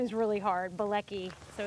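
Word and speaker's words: Bielecki: Blei. So it's Blei. And how do you spell it?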